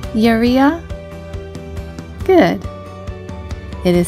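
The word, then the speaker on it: יריעה: The second word on the screen is Yeria. It means curtain in Hebrew. Can you say Yeria? Good. It is spelled with the following letters of Yud, Resh, Yud, and Hey. Yeria.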